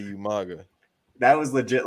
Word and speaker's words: Umaga: has coming to representing Raw, the Samoan Bulldozer, Umanga. Umanga. It's like who? There's no. all that proper how do you spell that? That shit. He can't say Umaga.